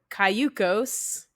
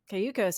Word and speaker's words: Cayucos: I went through and I'm like, okay, I see that it's Spanish for canoe. So it's Cayucos.